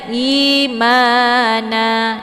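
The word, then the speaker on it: إيمانا: Jadi ketika berhenti di sini, maka bacanya na ya, karena ini menjadi mat aiwat. Jadi harokat tanwinnya barisnya dihilangkan 1. Jadi bacanya imana dengan panjang 2 harokat.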